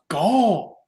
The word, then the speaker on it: Gal: domain and uh my name for my character is gal pronounced gol and i am the